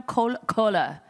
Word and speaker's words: Kohler: Do you guys know Kohler? I pronounced it correctly.